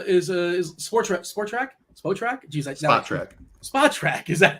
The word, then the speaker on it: Spotrac: Sportac is Spotrac? Geez, Spotrac. Is that how you pronounce it?